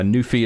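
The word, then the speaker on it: NuPhy: Uh, Nufi is spelled N U P H Y if you want to go to the website.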